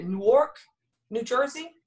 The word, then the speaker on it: Newark: So I went to, I'm going to make sure I'm saying it, Newark, New Jersey, Newark.